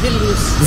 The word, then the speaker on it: Vilnius: And is it Vilnius or Vilnius? Vilnius. Vilnius. I knew it. I kept saying Vilnius.